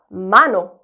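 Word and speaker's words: mano: 도전해 볼게요 자 먼저 손이라는 단어입니다 손 쉽죠 마노 이렇게 읽으면 되겠죠 마노음 may no 아이라는 거예요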